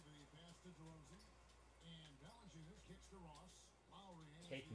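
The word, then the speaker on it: Valančiūnas: Oh, he's deep in the Valencia. Is that right? Is that how it's said? That was Valanciunas.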